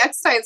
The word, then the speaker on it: Eckstein: It's his last name, because I always wanted to say Steen instead of Stein, so I have to spell it messed up for me.